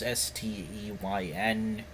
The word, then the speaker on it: Steyn: I don't know how to pronounce it. It's Steyn tweet.